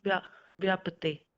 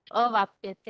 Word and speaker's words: अवाप्यते: श्लोक दीदी, क्लेश से अधिकतर तेषाम अव्यक्त अव्यक्ता चेतसाम अव्यक्ता ही गति दुखम देहर्वेदी व्यापते। देहवद्भिर अवाप्यते, अवाप्यते ऐसे होना चाहिए उच्चारण।